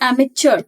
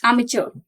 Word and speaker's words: amateur: amateur that person is known as amateur the pronunciation is amateur not Che it's amateur a place for a storage of arms arms